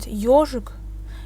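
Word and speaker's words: ёжик: So, and also if we have the letter yo in the word, the stress is on the letter yo. So we have the word ежик, it's a hedgehog.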